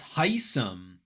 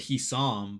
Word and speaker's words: Hisam: Oh, it's Heisem. Okay, so it's Heisem. I was saying it Hisam, but all right, now that's how we say. That's how you say it.